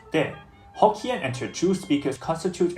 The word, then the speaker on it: 茶: In Teochew, the term for tea is similarly pronounced de.